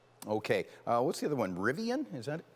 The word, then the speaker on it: Rivian: Rivian? Is that how it's pronounced?